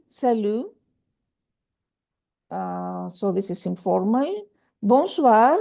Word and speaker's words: bonsoir: When you see O-I-O-E, this is always pronounced wa. O-E-I, wa.